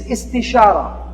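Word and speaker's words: استشارة: The second step of a decision-making process is istishara. It sounds kind of like it rhymes with istikhara.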